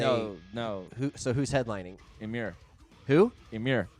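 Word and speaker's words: Emmure: Emir. Oh, you said it right this time. All right, yeah, brownie points. Josh usually says Emira.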